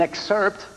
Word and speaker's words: excerpt: here to perform a selection from the album, as well as an excerpt. That's it, excerpt. That's how you pronounce it. Excerpt. Yeah, that's right. I don't pronounce the P, right?